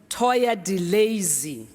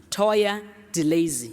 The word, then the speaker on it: Toya Delazy: 29 know exactly who Toya delay is my daughter kept on saying pronounce it properly m is Toya delazy is that how it's it's pronounced yeah the commercial is